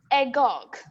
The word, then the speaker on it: agog: of the day is agog it's pronounced as a gog which means full of